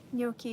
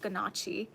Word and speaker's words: gnocchi: Yeah, before I knew what gnocchi was, I think I saw it and I thought it was like, I thought it was pronounced ganache.